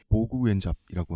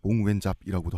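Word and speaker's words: Võ Nguyên Giáp: 1954년에 디엔비엔푸 전투라고 하는 베트남의 100살 넘어산 이분이 2013년에 돌아가셨는데 보구웬잡이라고 하는 전설적인 부장이 있어요. 보구웬잡이라고도 하고요. 몽웬잡이라고도 하고 베트남 발음이 한글로 표기가 좀 힘든데 한자로 베트남 사람들도 한자 문명권이니까 네.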